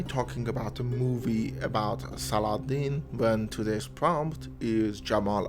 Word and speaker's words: Salahuddin: faith in me well saladin the victorious and sorry there's a big chance i might just pronounce him salahuddin which is the correct way of pronouncing his name is an egyptian movie